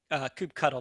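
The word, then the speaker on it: kubectl: in a namespace what do you thin it coop cuddle that's how you pronounce them we'll save that for the real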